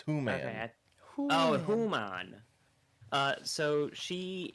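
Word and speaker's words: hwan: race known as a howon am I pronouncing that right so close it's whan oh humman uh so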